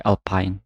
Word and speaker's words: Alpine: Teman-teman bebas menyebutkannya seperti apa, tapi secara pelafalan bahasa Inggris kita sebut sebagai Alpine. Jadi kayak pine, pinus kayak gitu ya pine-nya.